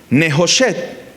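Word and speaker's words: נְחֹשֶׁת: Y la palabra bronce en hebreo suena muy similar. Nejoshet.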